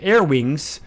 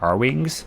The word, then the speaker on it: R-Wing: to do your upgraded air wings. R-Wings. I always said air wings as a kid, so it's always hard for me to remember that's actually pronounced R-Wings.